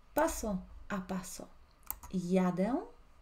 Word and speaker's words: jadę: empezando a aprender idioma polaco, vamos a hacer pronunciación paso a paso. Jadę. Jedziesz. Repite conmigo, siempre está bueno, ¿no es cierto?, pronunciar la pronunciación. Jadę, jedziesz.